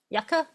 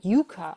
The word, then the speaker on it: yuca: is definitely a root it is a big yaka you got it Yuka or casava is what it is known as oh Yuka I was saying it wrong Yuka so here's